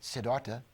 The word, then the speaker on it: Siddhartha: first a book called siddhartha some pronounce it siddharta by nobel prize winning